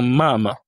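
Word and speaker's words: мама: Ensuite, on a le m comme dans mama. Mama qui signifie maman. Ici l'accent tonique et le a. Le premier a mam mam.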